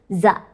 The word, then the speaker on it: za: Dalam bahasa Jepang, 8 itu dibacanya ya, 9 itu dibacanya ku, dan angka 3 itu dibacanya za.